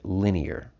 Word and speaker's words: linear: And so if we just write it down here, even though it's pronounced differently, take a look at this word in there, line. So when we go from line to linear, obviously we're changing the vowel sound, but that word is